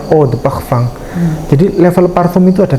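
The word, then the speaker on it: Eau de parfum: O the Pakfang. Oh the Pfang ini adalah tulisannya Eau the parfum ya. Bacanya O the Pfang.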